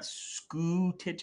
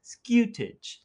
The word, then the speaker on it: scutage: you pronounce scutage and you put a little hint of a y in there so it's not scuti it's skewtig and you don't say